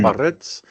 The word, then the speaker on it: Biarritz: You got to roll your R's. Biarritz.